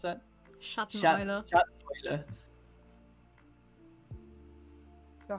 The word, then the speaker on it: Schatteneule: night, which so shadow owl would be how do you pronounce that? Schatteneule.